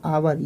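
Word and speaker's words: hour: एच य आर था हमने एच को छोड़कर क्या पढ़ा आवर एच को छोड़कर एच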